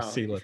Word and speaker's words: Sela: Sela.